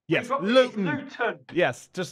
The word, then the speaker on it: Luton: So we pronounce it Luton. We drop the T. Yes, Luton.